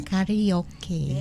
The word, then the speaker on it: karaoke: It's karaoke because I don't think the Japanese have the you in the And the among R. the They have vowels. R, right? They have R.